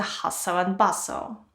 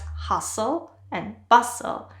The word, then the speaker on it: hustle and bustle: A great idiomatic expression is a hustle and bustle. Please note that we don't pronounce the T's, it's just hustle and bustle, and it's usually used to describe a big city.